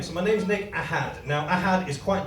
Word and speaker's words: Ahad: If you want to say it correctly, you need to pronounce it Ahad.